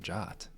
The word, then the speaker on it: JWT: JSON web tokens where that spec actually says you should pronounce it Jot.